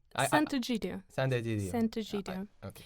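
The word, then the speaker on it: Sant'Egidio: Sant Egidio.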